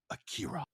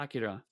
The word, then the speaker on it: Akira: It is actually a bit closer between those two pronunciations. like it's a bit closer to Akira but not quite as bad as Acura um as some of the dubs say.